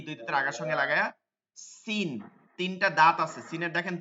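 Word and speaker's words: س: এরকম করে আসে না ঠিক এভাবে সিন করতে হবে scene scene scene scene scene scene scene scene বিসমিল্লাহ বিস বিসমিল্লাহ বিস কি হচ্ছে বিস এই যে বিষ না বিষ না সিন হবে নিচের দাঁতে সিন বিস সিন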